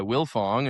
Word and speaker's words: Wildfong: And uh so they just go by Willilfong. And for us, no, we're stubborn. We kept the D. You don't say the D. You don't pronounce the D, but it's there.